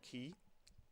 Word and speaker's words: Key: in this, in that they can't pronounce key properly. 2 different voice actors, 3 different instances pronounce it Quay, and it's very annoying.